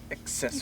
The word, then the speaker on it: accessories: First C makes it the hard. It's the hard C. The second C is the SC. Oh, okay. Accessories.